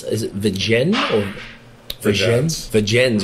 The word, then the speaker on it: Vergennes: Vergennes, you actually pronounce the S. I thought it was like French, like Vergennes.